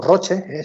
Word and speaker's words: Roche: Y en concreto, por ejemplo, Roche, que es una farmacéutica, o Roche, si lo pronunciamos en español, es una farmacéutica suiza